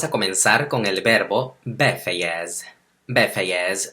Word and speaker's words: befejez: No se olviden que la E no es la E del español. Lo repito en todos los videos. No es befejez, es befejez. Befejez. El acento en la primera.